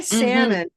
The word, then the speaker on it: salmon: Try salmon with no L sound and with a black sound.